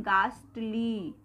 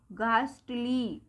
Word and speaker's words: ghastly: अब देखिए ये हमने गास्टली बोला, इसमें भी हमारा H आया क्या, नहीं आया, यानी हमने इसको दो तरह से प्रोनाउंस किया लेकिन H कहीं भी नहीं आया, H साइलेंट।